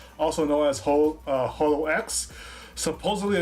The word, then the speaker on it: HoloX: We are just going over our initial impressions of Hololive Generation 6, also known as Holo X. Supposedly, according to Omega, it's supposed to be pronounced Holix, and there ain't a